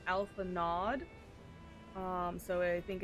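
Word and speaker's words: Alphinaud: dumb uh for um phonetically it's like if I were to read it phonetically it' be Alpha nod um so I think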